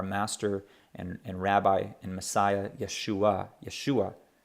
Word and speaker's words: Yeshua: and rabbi and Messiah Yeshua Yeshua hear that ah sound at the end that's because there's an iron with uh ah okay Yeshua Yeshua all